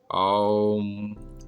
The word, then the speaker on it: ओम: ओम का उच्चारण अ, उ और म के मिले जुले रूप में होता है।